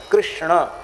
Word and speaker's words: कृष्ण: पा रहे थे बेचारे गांव गांव के लोग अभी भी एकदम शुद्ध कृष्ण शब्द का उच्चारण लोग नहीं करते कृष्ण ये शुद्ध उच्चारण है पर इतना सावधानी श्लोक